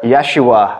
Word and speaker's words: Yeshua: and the name was jesus or yeshua as the hebrew would pronounce it but i love that